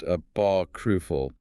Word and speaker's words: apocryphal: Finally, in this opening section, we have apocryphal pronounced apocalru. Apocalru. The phonetic challenge here is hitting that P stress distinctly and also making sure the R sound in the middle isn't swallowed. Apocril.